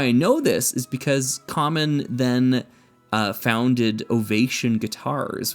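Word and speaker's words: Kaman: Now the really cool thing uh ca cayman or or I think it's common. Common is the way you're supposed to pronounce that.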